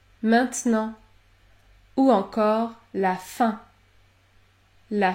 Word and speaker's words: maintenant: consonne dans ce cas vous allez prononcer la voyelle nasale un comme dans les mots demain maintenant maintenant ou encore la fin